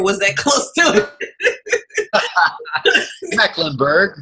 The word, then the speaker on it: Meckemburg: Meckemburg. Meckemburg, yes. Just the normal way to pronounce that, Marquesa.